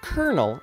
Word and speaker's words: colonel: a while ago 100 the word Colonel is spelled c-o-l-o-n-e-l it has no R and that is extremely